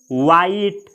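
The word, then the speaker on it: white: जैसे वाइट। वाइट, वाइट यानी उजला। तो इसमें जो WH है यहाँ पे इसका उच्चारण व होगा। अगला शब्द है व्हील।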